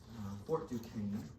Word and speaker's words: Fort Duquesne: He accidentally attacked a French fort called Fort Duquesne. That's how you pronounce that. Fort Duquesne, which is now the city of Pittsburgh.